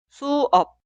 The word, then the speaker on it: 수업: La primera sílaba suena su, su, su. Y la segunda sílaba, op, op, op. Pronunciamos las dos sílabas juntas. 수업, 수업, 수업.